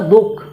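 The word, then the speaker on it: दुःख: ख आ रहा है, लेकिन हम जब इसका उच्चारण करते हैं तो दुख, यानी कि विसर्ग का उच्चारण हम कहाँ कर रहे हैं, आधा कर रहे हैं।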